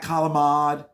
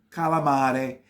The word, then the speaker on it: calamari: way you see it is the way it's pronounced the next one is calamari it's not kalamad it's not galamad it's calamari it's with the sea calamari okay I'm gonna